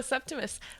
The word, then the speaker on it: Septimus: Did I say it right? Septimus? No, Septimus.